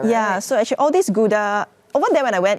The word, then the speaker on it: Gouda: here in malaysia yeah so actually all these gouda over there when i went it's pronounced gauda gorda yeah when i go to the store